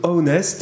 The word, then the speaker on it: Ownest: Et aujourd'hui, nous recevons Clément Berger-Lefranc, qui est cofondateur de Ownest. Alors ça s'écrit O-W-N-E-S-T. En fait, c'est une contraction de to own, en anglais posséder, et honest, l'honnêteté.